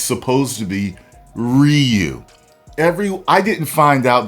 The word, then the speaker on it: Ryu: people were saying that it was produ correct pronunciation is Ryu does that discredit me from being a great